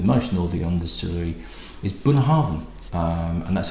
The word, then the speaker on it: Bunnahabhain: all see that motion or the understory is Boone Harvin and that's how you pronounce it burnet Harvin and it was actually